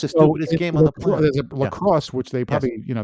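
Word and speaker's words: La Crosse: came from France yeah uh lacrosse crr o lacrosse lacrosse no Lacrosse lacrosse say it like that like the game like the game with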